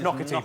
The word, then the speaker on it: Naughtie: It's pronounced Naughtie, but it's spelt naughty.